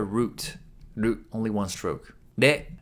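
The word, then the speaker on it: れ: De. De is pronounced like a combination of re in wretch and le in lead.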